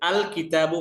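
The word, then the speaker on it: الكتاب: লাম যুক্ত হলে লাম হরফটি স্পষ্ট ও আলাদা উচ্চারিত হয় যেমন উদাহরণ দেখেন কিতাবুন এর শুরুতে যদি আমরা আলিফ লাম যুক্ত করি তাহলে আল কিতাবু পড়তে হচ্ছে কাফটা কিন্তু এই 15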